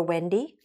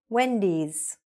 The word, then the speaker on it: Wendy's: We don't say, let's go to Wendy. We say, let's go to Wendy's.